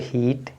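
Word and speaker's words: heat: क्या हो जाएगा feet H ई ए टी है तो हीट आपका ए साइलेंट और यहां पे देखिए क्या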